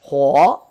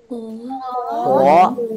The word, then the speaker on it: 火: How to pronounce this? Mu. Mu. Four to mu. And now, fire here. Huo. Huo, that's the fire.